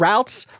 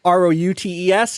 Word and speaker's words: routes: It is about whichever way you want to pronounce that. It's about routes, R-O-U-T-E-S. It's also about routes, R-O-O-T-S.